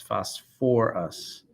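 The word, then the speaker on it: phosphorous: three so that one instead of going to phosphos it's phosphorus acid so you want to be careful with any acids that have either sulfur or phosphorus they have an extra syllable of ur or or so let's take a couple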